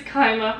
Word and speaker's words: Kaima: ] raid but yes it is kyma for anybody curious i feel did you